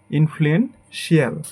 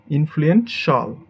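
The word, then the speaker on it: influential: এটাকে আমরা বলি ইনফ্লুয়েন্সিয়াল, বাট এটা আমাদের হবে ইনফ্লুয়েন্সল, ইনফ্লুয়েন্সল।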